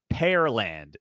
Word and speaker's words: Pearland: I might have said Pearland. Pearland, but Pearland, Texas, like the pear, the fruit.